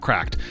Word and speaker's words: CRKD: called the Neo from a company that goes by the name of cracked c k d pronounced CL cracked this is the classic